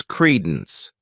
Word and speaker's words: credence: the next noun is Credence this word has two syllables and the stress is on the first syllable Creed Den what it means is